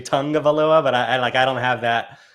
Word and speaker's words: Tagovailoa: I always say the tag. I know it's supposed to be Tagovailoa, but I don't have that.